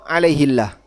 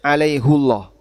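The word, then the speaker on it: عليهُ الله: Ini qiraah hafz anim jumhur qur alaihillah. Tapi hafz an asim dan Quran kita hafz an asim bacanya alaihullah.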